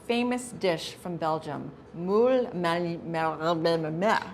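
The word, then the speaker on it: Marinières: Today we're cooking up the most famous dish from Belgium, Moules Marinieres, right? Marinieres.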